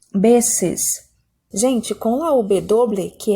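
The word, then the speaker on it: veces: Aqui, gente, a pronúncia é muito parecida com o B de bola. Beses.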